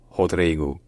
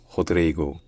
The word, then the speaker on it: Rodrygo: prénom simplement et donc en portugais brésilien à l'origine son prénom il se prononce Rodrigo Rodrigo c'estd que le r au début d'un mot en brésilien ça peut se dire comme en français mais dire un peu comme un H et d'ailleurs le dire